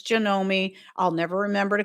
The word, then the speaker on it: Janome: I pronounce it Janome. Apparently, it's Janomi.